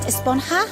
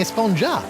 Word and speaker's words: esponja: grande thing has been about huh actually it's pronounced esponja with an H sound at the end but we've all been saying a sponger yes I know it's been bothering me this